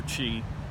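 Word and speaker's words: ch'i: spelling is used for chi in Wade Giles. The word chi should actually be C'-Hi. That would be pronounced chi.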